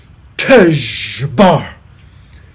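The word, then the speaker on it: Tezjbar: And using my vocal cords and my mouth, he said, Tejabar. Oh, my. And I said, Tejabar? And he said, no, Tejabar. And I said, spell it. And he said, T-E-Z-J-B-A-R, Tejbar.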